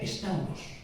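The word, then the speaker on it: σταυρός: ¿Sabes cómo se dice en griego cruz? Se dice estauros.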